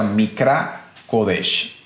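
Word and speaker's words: מקרא קודש: de una frase hebrea la voz hebrea que se pronuncia micra codech y cuando hablamos de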